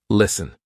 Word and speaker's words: listen: in a word and know that the t is silent. For example, s t e n. Listen. We're not saying listen. Silent t.